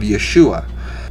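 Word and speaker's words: ישוע: ea soos derived from the greek transliteration of yeshua yeshua or yeshua is the name of the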